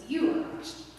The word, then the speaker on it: Yuvaraj: glasses, his name is Yuvaraj. So a lot of people have trouble saying his name. That's spelled really funny, but it would be like saying you are Savannah or you are Christy. It's Yuvaraj.